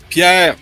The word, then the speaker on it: Pier: Did I pronounce it right anyway? Yes, Pier, you got it?